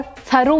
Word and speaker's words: thorough: नाउ THOROUGH को थरो भी बोल सकते हैं और थरो भी बोल सकते हैं, दोनों प्रोनाउंसिएशन ठीक है।